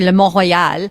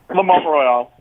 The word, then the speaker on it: Le Mont-Royal: So we pronounce it, obviously, we're going to say Le Mont-Royal, but how are Americans saying the name of your restaurant? Le Montreal. What? Without the rolling of the R, they say Le Montreal.